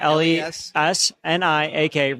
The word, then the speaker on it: Lesniak: First and last name, Frank Lesniak, Lesniak, rhymes with Cadillac, as you know.